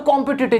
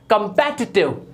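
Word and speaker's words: competitive: Next है हमारा कॉम्पिटिटिव, हर कोई बोलता है कॉम्पिटिटिव, जबकि ये होता है कंपेटिटिव, कंपेटिटिव। नेक्स्ट है ट्रुथ, एकदम से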